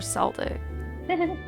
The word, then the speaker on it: Celtic: Correct a hard C for Cedric. For Celtic. Oh, correct.